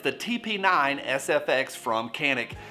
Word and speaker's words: Canik: the tp9 sfx from kanik and before you start typing away yes i know some guys call it the janik or the zhanik nothing like some random dude in toledo telling me how to pronounce turkish words socanic has surged in